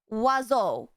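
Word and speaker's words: oiseau: And it's pronounced wazo.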